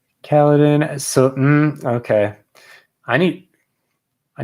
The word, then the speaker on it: Kaladin: pull it up really quick okay he says caledon so okay i need i need to bring